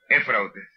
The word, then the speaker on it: Éufrates: Ya les dije ahorita, ¿cómo se pronuncia la palabra de ese río? Éufrates.